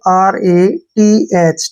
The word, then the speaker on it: wrath: अब जैसे next word है WRATH। यहाँ पर फिर से W के बाद R आया है तो हमने W का उच्चारण नहीं करना है, हमने यहाँ से पढ़ना है इसको RATH। ठीक है ना। RA का उच्चारण हम रा के रूप में करते हैं और TH को हम थ पढ़ते हैं।